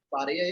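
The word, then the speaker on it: parler: Parya is speaking. Okay. It's pronounced as Parya, that is not speaking.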